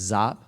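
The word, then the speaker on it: Giap: Minh and led by General zop uh g-a-g-i-a-p pronounced zop um they were both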